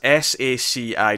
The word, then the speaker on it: Saci: So, based on a well-known character from Brazilian folklore, the Saci, that's S-A-C-I, just in case I'm mispronouncing it, but I think I'm right in thinking Saci.